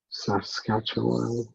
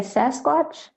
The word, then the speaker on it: Saskatchewan: It sounds very, very similar to the name of the Sasquatch.